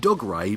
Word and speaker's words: Dougray: It's Doug Ray, but he's pronounced Dougray apparently. Dougray.